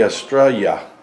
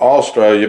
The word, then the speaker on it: Estrella: It'd be Estrella. Yeah, the L's would be silent. It wouldn't be like Amarillo, like Amarillo, which means yellow? Estrella. Not Australia, but Estrella.